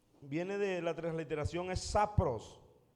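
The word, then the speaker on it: σαπρός: viene de la transliteración es sapros. Sapros con acento en la o la palabra en el griego que se traduce por corrompida, sapros, y es putrefacta.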